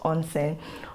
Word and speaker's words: onsen: i'll be talking about onsen on scene like you literally pronounce it the way it is spelt onsen onsen is actually a